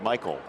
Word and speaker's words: Maikel: But this year, he's sort of changed his pronunciation of his first name to make it more like Michael Franco this year.